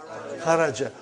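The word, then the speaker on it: خَرَجْ: Say it properly. Kharaj. With sukun. You won't say with. You will say kharaj.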